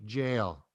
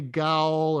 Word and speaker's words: gaol: and the Waterloo County Jail. Mm-hmm. And just for everyone out there, jail is spelled G-A-O-L. Right. And you don't say goal or goal, right?